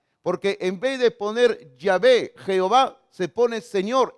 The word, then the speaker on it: Yahvé: Entonces se le añadieron vocales para que podamos pronunciarlo. Y de ahí salió en nuestra Biblia, Reina Valera dice Jehová. Pero parece que lo mejor sería haber colocado Yahvé. Así hubiera sido quizás mejor todavía. En otras Biblias, en otras